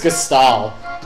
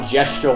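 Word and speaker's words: Gestahl: I think it's Gestal. But I used to call him Gestual when I was a kid.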